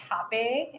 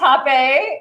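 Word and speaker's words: rapé: me, which I learned it's spelled R-A-P-E with an accent over it, but it's pronounced hape, and so it's spelled rape, but it's not.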